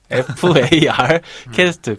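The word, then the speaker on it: Farcaster: 굳이 추가 설명을 드리자면 실제로 서비스에서는 F입니다. 파입니다. FAR 캐스트. 그래서 이제 기린님이 발음 실수를 하신 게 아니라 그 팟캐스트랑 다른 일반적인 팟캐스트랑 다른 용어라는 점 좀 참고하시면 좋을 것 같고요.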